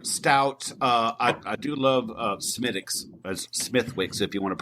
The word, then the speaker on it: Smithwick's: I do love Smithwick's, Smithwick's, if you want to pronounce, spell it how it's say it, how it's Smithwick's.